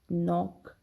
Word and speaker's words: knock: In all these words, we do not pronounce the sound of the letter K. So we have to remember, when K is before N, when it precedes the letter N, we do not pronounce it.